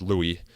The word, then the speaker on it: Louis: common but Jeff assures me that it is pronounced Louis so that's what I'm gonna use here in